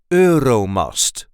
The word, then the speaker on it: Euromast: say ero ero so there is a light emphasis on the first syllable must R must the Euro must the urom was built